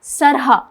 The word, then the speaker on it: Srha: Okay, so what's the right pronunciation of your name? सरहा. Sarha. Yes. Okay, so now you guys know. आप लोगों को अब पता चल गया कि it's Sarha.